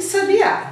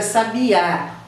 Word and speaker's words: sabiá: diferença ele sabia que sabiá então essa é uma diferença a pronúncia também um é sabia o outro é sabe ar um é oxítona e outro é paroxítona se laboratório da está